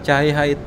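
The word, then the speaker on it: Tjahaja: cahaya hati itu sebenarnya tulisannya enggak cahaya jadi Teja Haja Oh tempo dulu nih tulisan-tulisan tempo dulu jadi e ejaan yang dulu yang belum disempurnakan itu tejah haaj hati kalau dibacanya sekarang tuh cahayaahay jadi ini bukan pengin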